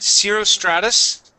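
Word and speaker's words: cirrostratus: I don't know how to pronounce that word. Yeah, that's right, cirrus stratus.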